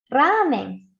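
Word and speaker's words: ラーメン: Ramen tiene 4 sílabas.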